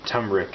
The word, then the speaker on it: turmeric: teaspoon of cumin and turmeric is actually how you pronounce that put those in makes